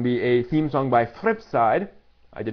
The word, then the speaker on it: fripSide: that um and be a theme song by fripside I did not mispronounce that fripside it is celebrating the 22nd